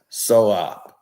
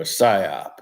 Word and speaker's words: psyop: Jay-Z, LeBron, and Diddy are a part of this SOAP. They're part of a SOAP. Or PSYOP, if you want to say it correctly.